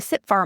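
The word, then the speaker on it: CTFAR: So, the tool is called sitting far and the model behind it is the sit far model which is spelled c t f a r.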